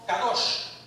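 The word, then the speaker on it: קדוש: Dice que el término ah se pronuncia en hebreo kadosh.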